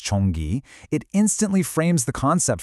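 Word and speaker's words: 전기: But when you bring in the Korean translation, pronounced chonggi, it instantly frames the concept for you.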